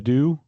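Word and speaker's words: ydw: So, I guess it would be like a dhu.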